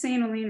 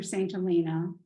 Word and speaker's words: St. Helena: Helene, and it's St. Helene or St. Helena. Some people call it that, so it's either or.